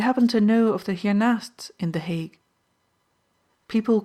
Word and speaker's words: hiernaast: Hiernaast, Mijnheer, she replied with strong emphasis on the naast.